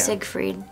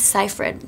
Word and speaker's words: Seyfried: What's the worst mispronunciation of your name you've ever heard? Safe Ride? Or yeah. Siegfried. Siegfried? I'm like, it's Seyfried.